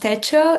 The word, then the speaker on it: TECHO: I'm here on behalf of uh it's it's pronounced Techo. It's in Spanish, the word.